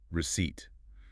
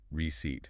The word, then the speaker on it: receipt: And fifth, receipt, the paper with the prices. Remember that silent p receipt.